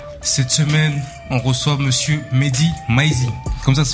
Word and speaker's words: Mehdi Maizi: Cette semaine, on reçoit monsieur Mehdi Maizi, comme ça se prononce.